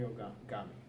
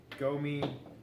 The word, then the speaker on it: Gomi: Jim Miller, Takanori Ogami. Well, Takanori Gomi. Ogami. Hey, man. His Gomi? name is Gomi. I'll go Gomi. Gami. Okay, well, I'll go Gomi because that's how he pronounces his own Gomi.